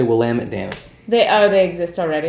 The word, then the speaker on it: Willamette: So we've been calling all these Willamette Valley Pinots Willamettes, and the actual way to pronounce that is Willamette.